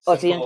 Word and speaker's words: Iain: you doing in so is there a special pronunciation of your name now you know that it's the end camel Ian okay because I thought maybe it might be something like exciting like eon or something it's pretty I'm pretty boring person